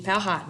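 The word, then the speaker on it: Powhatan: make things happen so Chief powtan or chief pohot as some people pronounce it was leader he was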